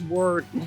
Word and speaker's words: Worden: Now, it looks like it's Worden, but the family, which again, an Annapolitan family of long standing, corrected the Naval Academy and said it's Worden.